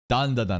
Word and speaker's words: Dandadan: Dandadan, that's how you say it.